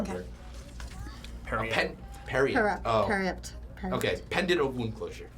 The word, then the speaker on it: Periapt: Parapta wound closure. I can't pronounce that Okay. word. Period. Period. Oh. Periapt.